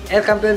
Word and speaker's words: El Campeon: And then El Campeon, ay aliwa lamang, El Campeon Pigeon Feeds yun ang tamang pronunciation mga kalapati.